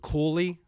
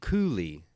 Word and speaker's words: Cooley: Some people pronounce it Cooley with the L. We pronounce it Cooley with the coo. They pronounce it on the Cooley, but I've heard both.